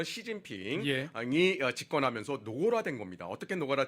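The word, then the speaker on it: 习近平: 그것이 아 2010년대 들어서 중국의 습근평 중국식 발음으로 시진핑이 집권하면서 노골화된 겁니다 어떻게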